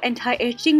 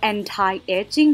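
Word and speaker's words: Anti-Aging: น ะ ค ะ Urban Decay ตั ว Anti Aging ตั ว นี้ น ะ ค ะ ข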